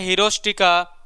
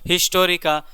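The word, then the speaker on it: Historia: तो मैंने थोड़ा सा हिस्टोरिका, यहाँ पे मैंने प्रोनाउंसिएशन थोड़ा सा मिस्टेक किया, हिस्टोरिका, माफ़ी चाहूँगा उसके लिए।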